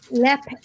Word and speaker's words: Leap: I call it Lep Castle. Lep. Lep. Like Lep So is Castle. it actually spelt Leap? It's spelled Leap, but it's pronounced Lep Castle.